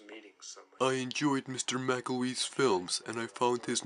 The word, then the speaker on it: McElwee: Ross McElwee. Ross McElwee?